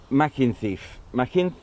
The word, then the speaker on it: Machynlleth: unlike the Mach Loop, it's there we go, Machynlleth, hence Mach Loop.